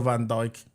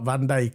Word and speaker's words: Van Dijk: You know why I say it like Van Dijk? Because FIFA. Oh yeah, in FIFA. The commentator goes Van Dijk. So I'm going to say it like that.